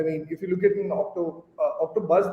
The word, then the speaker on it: OctoBuzz: I mean, if you look at OctoBuzz, the name it rhymes very well with the word octopus.